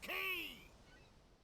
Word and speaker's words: Quay: Prepare to set sail for Peregrine Key! Yeah, that's not how you should pronounce that word, but okay, sure. Key it is. Very clearly says Quay.